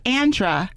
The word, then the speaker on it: Andra: name again I said it's Andra he said oh that's like saying Sandra without the ass like oh my god